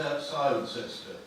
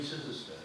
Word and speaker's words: Cirencester: what locals tell you about their place name pronunciation. Yes. The number of times I've said, we're going to say Cirencester. You mean Cirencester? Yeah. Then said to somebody else, I'm going to Cirencester. You mean Cirencester?